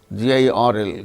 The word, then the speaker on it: girl: of certain, garden, girl, GIRL, girl. R is followed by L, a consonant sound. There R is not pronounced.